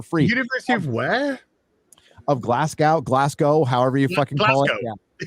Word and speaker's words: Glasgow: university of where of glasgow glasgow however you call it yeah if you're speaking it phonetically yeah okay well you don't need that w there but it's glass cow you guys have arkansas